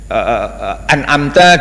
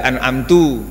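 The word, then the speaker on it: أَنْعَمْتَ: dibaca itu ihdini misalnya an'amta dibaca Anam to Iya itu namanya lain itu namanya mengubah bacaan mengubah roket dari bacaan Fatihah dan pengubahan itu mengubah makna membuat makna jadi berubah adab ada ada yang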